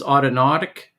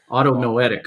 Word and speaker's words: autonomic: bit of time on this autonatic is that how i pronounce it automatically autonomic okay um that that's uh